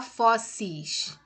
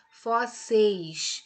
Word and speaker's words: fósseis: contrário ao fóssil fósseis eu não posso falar fosse tá só quando for oxítona lembra oxítona é quando a última sílaba é a mais forte chama que vem barril então é barril focil forma mais forte então vai ter que ser fósseis aí eu vou ter